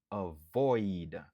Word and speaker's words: avoid: Li gen 2 syllabes. Stress syllable lan li sou deuxième syllabe lan. Void. C'est là que wap accentuer. Avoid.